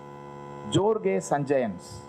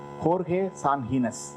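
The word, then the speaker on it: Jorge Sanjinés: அப்போ ஜோர்கே சஞ்சயன்ஸ், அப்படி சொல்லக்கூடாது அந்த பேரை, ஆனால் அப்பெல்லாம் வந்து ஸ்பானிஷ் எழுத்தெல்லாம் எப்படி ப்ரொனவுன்ஸ் பண்ணுறதுலாம் யாருக்கும் தெரியாது. ஜோர்கே சஞ்சயன்ஸ் இன் பேட்டி அப்படின்னு சொல்லி ஒரு 25 பக்கத்துக்கு ஒரு பொலிவியன் டைரக்டரோட பேட்டி. ஹோர்கே சான்ஹீனஸ் அப்படின்னு சொல்லணும். ஏன்னா ஸ்பானிஷில் வந்து ஜேலாம் ஹாவா மாறிடும்.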